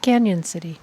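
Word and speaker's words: Cañon City: post Brian Eagle says it's pronounced Canyon City thank you I wasn't sure because there is no why nor is there a tilde over the end tilde so that's the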